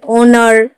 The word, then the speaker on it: honour: जैसे ओनर, HONOUR, ओनर, ओनर ने भी ओ से पहले एज आया है तो हम एज को उच्चारण नहीं करेंगे।